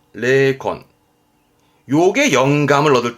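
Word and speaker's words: 霊魂: 발음은 레콘, 레콘.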